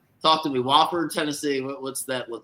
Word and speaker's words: Wofford: Not Wofford. It's Wofford, right? Yeah. Wofford. That's your neck of the woods. Isn't that South Carolina? Yeah, they're over in Spartanburg, not too far. Right. Talk to me. Wofford, Tennessee.